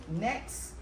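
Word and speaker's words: NAICS: you're going to get this list and your next code and that's what we need to discuss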